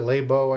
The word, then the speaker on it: Laibow: She pronounces it Laibow. I heard it both ways.